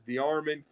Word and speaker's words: DeArmond: Well, yeah, it's you're very, very close. It's DeArmond. and it's got kind of a French origin in it.